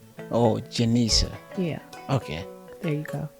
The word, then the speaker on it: Genesha: Ladies and gentlemen, I have Genesha Leshay with me today. Welcome to 8 plus 1 The Classroom. Thank you. It's Genesha. Genesha with a J? With a G sounds like a J. Oh, Genesha.